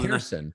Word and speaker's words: Pearson: Actually, it's Pearson. I've been mispronouncing his name.